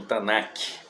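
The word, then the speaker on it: Tanakh: chamada o antigo testamento é chamado de tanar né ou alguns pronunciam tanac ela é chamada de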